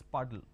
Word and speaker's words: puddle: that's called a puddle it's not poodle it's puddle paint now i'm going